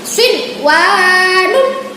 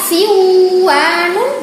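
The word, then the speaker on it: صِنْوَانٌ: Wawunya sinwanun. Tidak boleh dibaca siwanun.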